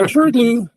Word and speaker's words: SHRDLU: It's that uh that MIT program that I don't know how to pronounce, SHRDLU or SHUDLU? Yeah, SHRDLU.